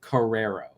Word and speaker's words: Carrero: It's very few people get it correct, but it's pronounced Carrero. It's really weird, but yeah. So it's Carrero.